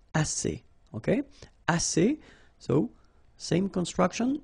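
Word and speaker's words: assez: means enough okay a remember two vowels here a and then uh and then double s so it's really strong the s a assay okay ass so same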